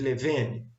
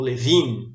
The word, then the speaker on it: Levene: Bom, e o último teste que a gente tem é o teste de homogeneidade de variâncias de Levene, ou Levine, né, se você pronunciar em inglês, certo?